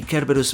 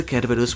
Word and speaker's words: Cerberus: Just to be clear, I'm going with the Japanese and Greek pronunciation here rather than the English one. This isn't the first time we've heard of the Cerberus myth in the One